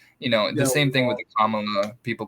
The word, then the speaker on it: Kamala: I call her Camilla. I know that's wrong. It's Kamala, Mamala. Just rhyme it with mom. Mamala, Kamala.